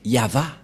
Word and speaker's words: Yahvah: V et et la prononciation de ceci c'est yava voilà la prononciation de